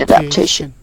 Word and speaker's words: adaptation: Such as adaptation. So you stress the syllable tation in adaptation.